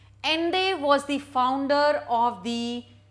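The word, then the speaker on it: Allende: name is ande though the spelling is different but it is pronounced as ende ende was the founder of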